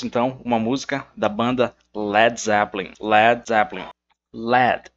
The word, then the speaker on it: Led Zeppelin: Mas o guitarrista da banda, o Jimmy Page, para que não soasse lead, para que os fãs não pronunciassem que lead, o que ele fez? Ele pegou esse A e simplesmente apagou esse A, para que então o som ficasse Led Zeppelin.